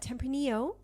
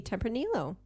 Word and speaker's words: tempranillo: so we have uh tempranillo very good or as some other people like to say they like to pronounce the l's that's fine as we've learned it could be tempranillo that's right right yep